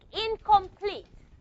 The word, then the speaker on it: incomplete: And the N is going to become something like this, incomplete. It's also to become a velar nasal.